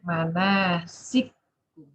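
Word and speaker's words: مناسككم: Jadi as-Susi bacanya manasikum. Manasikum. Jangan ragu-ragu ya. Kaf pertamanya hilang. Yang ada yang bunyi kaf kedua tasydid.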